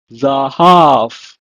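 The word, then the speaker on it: זהב: It's pronounced in Hebrew as zahav.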